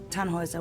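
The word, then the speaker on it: Tannhauser: why what's your name tanhauser we'd pronounce it taner with an um German Roots yes my grandpa these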